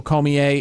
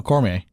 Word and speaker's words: Cormier: it's call me a I mean the R is silent no core may they know core may Daniel call me a Cormier it the r is event that r is that r is not silent Daniel Daniel Cormier okay